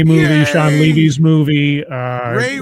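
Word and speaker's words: Rey: Ray rhymes with yay, scribe.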